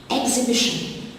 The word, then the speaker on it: exhibition: Exhibition, the silent letter is the H after the X.